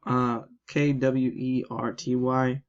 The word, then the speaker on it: QWERTY: The QWERTY keyboard, it's called a QWERTY keyboard because if you look at the Q, why did I say it like that? The Q, KWERTY, it spells QWERTY.